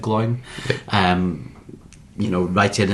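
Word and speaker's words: Glóin: So, they're at Rivendell and uh they're speaking to to Glowen or Gloin. I'm never really sure. I think you're meant to pronounce it glowin, but I always pronounce it glowing.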